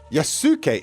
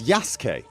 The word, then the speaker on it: Yasuke: case you get hate it's Yas yasuke is Yas really you don't pronounce the U really so is